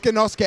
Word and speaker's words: Genosuke: So it's Genosuke actually and not whatever I said.